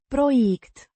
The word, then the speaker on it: proiect: Means project, pronounced Proiect. with the stress on the second syllable.